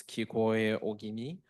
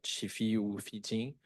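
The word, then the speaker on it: 聞得大君: So also like for the first line, we have this kikoe ogimi. However, in Okinawan language, it probably be pronounced as chifi ufijin.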